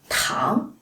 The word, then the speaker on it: 糖: And if you ask for 糖, third tone, that's sugar.